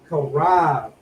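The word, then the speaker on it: חרב: Karab.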